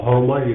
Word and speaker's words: शर्मा: उनका नाम था शर्मा जी, आसाम के थे और आसाम में श का उच्चारण ह करते हैं, इसलिए उनको हर्मा जी कहते थे।